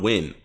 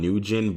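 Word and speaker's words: Nguyen: go to on win i know the name is like on nugent but you know i mean if you pronounce properly is like win so i don't i don't really know i guess you you ignore the n and the g and just use the you you win kind of thing so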